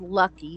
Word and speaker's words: Lucke: is what I've said and my name is lucky so it's not oh it's lucky yeah it's lucky did I spell it wrong l u k no it's it's